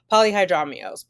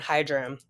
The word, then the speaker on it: polyhydramnios: Polyhydramnios. Polyhydramnios. Poly meaning many, much. Hydra meaning fluid. Amnios. Okay, polyhydramnios. Okay, that makes sense. I was cutting the syllable in the wrong place. I was doing hydram.